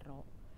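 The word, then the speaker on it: ρ: m rohfi naiknya tanda ini ini disebutnya roh ya massa jenis itu simbolnya dibacanya rok jadi m rohfi saya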